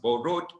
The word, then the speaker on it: borrowed: It's borrowed. Okay. So in English, you must sound out your tenses.